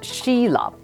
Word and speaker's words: Sulip: Well, it rhymes with tulip, by the way, which is one of my favorite flowers.